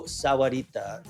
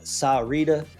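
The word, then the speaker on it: Sahuarita: out of his mouth Rancho Sarita is is how you say that some people call it saita um Sahar however you want to call it it's all the same Rancho Sarita is a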